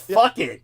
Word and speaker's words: Phuket: Yeah, not to mention that Phuket. Phuket's pronounced fuck it.